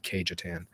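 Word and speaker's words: Cajetan: put this forward um cayetan is one of them some call or pronounce it kejatan he was he was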